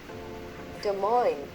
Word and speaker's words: Des Moines: Des Moines.